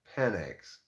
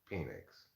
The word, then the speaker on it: Penix: last name I think of course they say it's pronounced panics but come on p-e-n-i-x is clearly pronounced Phoenix so if you're gonna